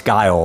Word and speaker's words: Guile: So this is a one-shot as well, as it has to do with its Guile, right?